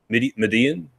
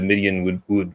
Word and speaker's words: Midian: And then he goes straight to how do you pronounce it? Midian.